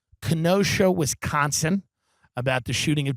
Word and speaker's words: Kenosha: Uh he went out there was a protest in Kenosha, is that the way to pronounce it? Kenosha, Wisconsin about the shooting of Jacob Blake.